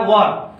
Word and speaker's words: were: कुछ बच्चे जो है इसे वेयर पढ़ते हैं, तो ये वेयर सही नहीं होता है, इसका शुद्ध प्रोनाउंसिएशन होता है वर्ब।